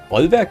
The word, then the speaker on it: Bollwerk: Bollwerk is how it should be pronounced. It's a German word.